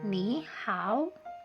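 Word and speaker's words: 你好: Nah, apabila nada ketiga ketemu nada ketiga, maka nada ketiga pada kata pertama itu akan berubah menjadi nada kedua. Kita bacanya hanya setengah saja, tidak full nada ketiga. Jadi cara bacanya adalah ni hao, ni hao.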